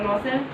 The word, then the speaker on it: Loisel: आई silent, लॉसेल है ना।